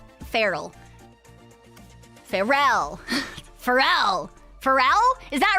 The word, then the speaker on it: Pharrell: It's pronounced as Pharrell. Pharrell Williams, with the emphasis on the second symbol of Farrell.